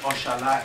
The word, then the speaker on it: oxalá: It's not pronounced as J. Ojalá. Okay? Ojalá in Spanish and Oxalá in Portuguese.